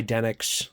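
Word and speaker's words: Denix: Uh, made by Dennix, I believe, is how the company is pronounced. Den IIX.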